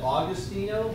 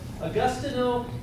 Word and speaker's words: Agostino: And I would probably try to pronounce that Augustino, because that's, you know, Italian people I'm familiar with, but I don't think that's really how you pronounce it. So Agostino di Duccio.